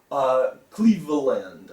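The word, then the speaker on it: Cleaveland: There's this extra letter in here, that A. Cleveland, I guess, is probably how his name was pronounced.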